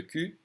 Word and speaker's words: cul: Le cul, L is silent, but le cou, the neck.